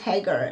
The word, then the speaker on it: Hagar: who is hager hagar i feel like saying her name is like hey girl but no it's haggar and the way it's